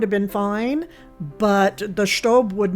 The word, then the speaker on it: Staub: But here in the States, many people say Staub. But because I was raised by a German mother, I will be pronouncing it Staub.